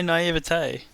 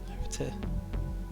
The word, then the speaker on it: naivete: So, what is wrong with the way I say naivete? Do you want me to say naivety? Because it's accent. That's how I read that letter.